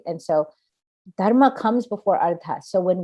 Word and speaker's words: dharma: obligation the four-fold pursuit dharma dharma comes first dharma is the hindu word that we translate into justice it's sanskrit but also used in many other languages pronounced slightly differently but darma is justice and the second